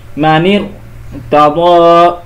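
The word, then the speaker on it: مَنِ ارْتَدَّ: তো এখন কিভাবে উচ্চারণ হবে? মানির তাদা, এখানে রটা পোর হবে বা মোটা হবে।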